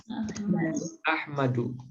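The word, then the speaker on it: أحمدُ: Itu makanya Ahmad nggak boleh kita baca Ahmadun, tapi Ahmadu.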